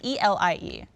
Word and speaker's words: Elie: And we have a profile here from, I believe his name is either Eli or Ellie. I didn't know how to pronounce it. It's Elie, and he's from Sydney, Hey.